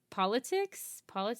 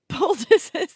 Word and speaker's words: poultices: Yeah, so they described, correct, closing wounds with sutures, bandages, splints even, and politics? Poultices? Is that how you say it? Poultices, yeah.